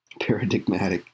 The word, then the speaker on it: paradigmatic: Paradigmatic. That's how it's pronounced.